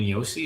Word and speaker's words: Josi: I think he's Yossi, like Roman Yossi instead of. I think it's Roman Yossi. I think it's the Swiss Roman pronunciation.